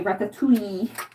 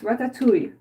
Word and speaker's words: ratatouille: I hate when Americans say ratatouille. Like there is no E at the end. It's ratatouille.